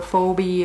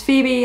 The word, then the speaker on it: Phoebe: II B II I was young I just phonetically it was Phoebe it was for Wiebe or fo B or I I didn't even know the name Phoebe was not familiar to me and so I